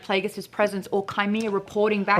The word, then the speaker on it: Plagueis: hard G. Plagueis.